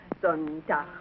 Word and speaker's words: Sonntag: Sonntag, Montag, Dienstag, Mittwoch. That is good, but pronounce the words broader, so Sonntag, Montag, Dienstag, yes?